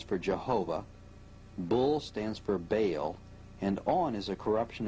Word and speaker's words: Baal: The word is probably the contracted form of some other Hebrew word, commonly pronounced Baal and spelled B-A-A-L.